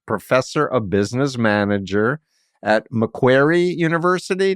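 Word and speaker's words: Macquarie: of business manager at mcquery University did I pronounce it right mcari yeah mcari University Australia with over 60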